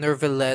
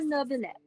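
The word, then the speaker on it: Neuvillette: Where's the R in Nervilet? Exactly. That so-called Chief Justice. There's no R. There's no R. But why is there a pronunciation of R? It's just Monsieur how people Monsieur Nervilet. the new Villette part in E and it just turns into Nervilet. Because they can't say new Villette.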